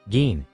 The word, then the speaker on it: Jyn: Your name might be pronounced gin, but it's spelled gi like the alcohol.